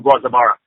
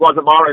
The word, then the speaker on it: Guazabara: Anybody who has, the Puerto Rican or Caribbean ancestry has heard of Guazabara, and like I said, in English it's pronounced Guazabara, in Spanish it's Guazabara.